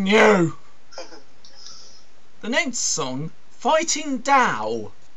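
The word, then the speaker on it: Tao: Yeah, I know it's spelt T-A-O, but it's actually pronounced Dao. Because, you know, language.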